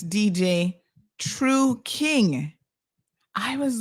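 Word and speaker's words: Trukyng: t-r-u-k-y-n-g but you see I was putting I was making the first syllable the t-r-u-k trucking and it's true Tru King with a Y that's why you had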